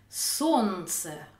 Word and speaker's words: солнце: Солнце, on ne prononce pas le L.